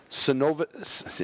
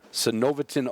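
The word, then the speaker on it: Synovetin: I'm glad that Cenovatin, and I said it wrong when we started. Cenovatin OA put you and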